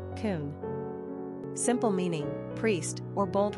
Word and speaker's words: Coen: pronunciation Kon simple meaning priest or Bold Ruler characteristics of